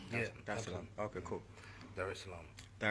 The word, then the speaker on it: Dar es Salaam: Did I pronounce that right? Yeah, Dar es Salaam.